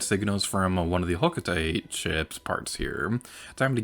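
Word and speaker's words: Hocotate: up for another expedition i know the official pronunciation is alcatel i don't like that pronounciation i'm gonna call it huckatee until i'm dead on that note hey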